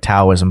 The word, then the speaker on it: Taoism: And Lao Tzu, you know, who invented Taoism, which looks like Taoism, but I think it's pronounced Taoism, yeah.